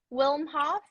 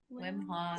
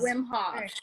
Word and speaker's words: Wim Hof: Wilm Hof? Yeah. Wim Hof. Wilm Hof. Erika. I'm so sorry. How do you pronounce it again? Wilm Hof? Oh my goodness. I'm gonna type it. Wim Hof. Wim Hof.